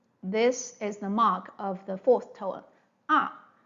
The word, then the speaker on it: 妈: For example, if you say this syllable ma in different tones, you mean different things. Like the first tone, it means ma, it means mom.